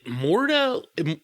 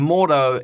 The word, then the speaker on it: Mordo: Is it Mordo? Mordo, that's his name?